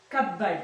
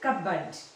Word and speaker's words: cupboard: his friend solo took misty to a cupboard cupboard see the pronunciation cupboard it was in the kitchen of the house